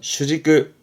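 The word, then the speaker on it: 主軸: 발음은 슈지끄, 슈지끄처럼 축자 음으로는 지끄.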